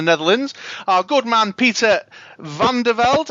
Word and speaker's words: Van der Velde: our good man Peter van der Velde. Am I pronouncing that correctly? Pretty close. It's Van der Velde.